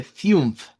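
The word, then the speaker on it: fünf: número 5, de hecho, el número 5 se escribe Fiumf, con el mismo sonido IU que usaríamos eh, para la palabra de proverbios. Usaríamos la misma vocal U, un laut, para este caso.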